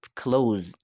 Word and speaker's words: close: like a closest note it's not like a pronounced like this it's pronounced it closed so pay attention your